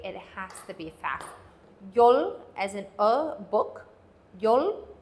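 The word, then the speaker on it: យល់: the word understand this is the in B Yol Yol or you could think of it as Yol Yol but either way it has to be fact Yol as an a book Yol or Yol uh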